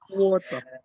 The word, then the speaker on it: water: Water. R-nya hilang, T-nya dibaca jelas. T-nya dibaca jelas. Bacanya adalah Water. water. Coba. Water. Jangan sampai ada R.